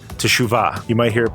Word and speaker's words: teshuvah: life is something called teshuva you might hear it pronounced Shuba or chuhwa because it's like a t sound and SH sound really close together like Chu actually it's